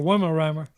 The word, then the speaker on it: Weimaraner: Weedemeyer or a Weimaraner, whichever.